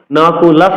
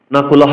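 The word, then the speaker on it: নকুলঃ: মত উচ্চারণ করতে হয় এজন্য নকলাস বলতে হবে নকুলহ কিন্তু বলা যাবে না হবে কিন্তু আট অক্ষরের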